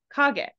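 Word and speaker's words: 影: Here it's pronounced as kage, but you're correct with the meaning.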